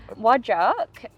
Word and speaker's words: Whadjuk: So, perfect pronunciation. Whadjuk. Whadjuk, that is one of the Noongar nations.